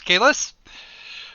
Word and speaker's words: Kalis: We will refer to him at this point as Kalis, because I think that's the way that's supposed to be pronounced, is it not? Yeah, you got it right.